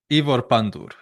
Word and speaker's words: Pandur: It's is it Ivor Panur who's at Hull City? Ivor Pandur. Okay, my pronunciation.